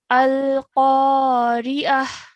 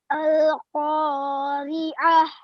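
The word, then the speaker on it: القارعة: the end over here, we're making a h sound. Okay, so like a ha sakin. So we're just saying at the end, we're saying ah. Yeah. Al-Qari'ah. Al-Qari'ah.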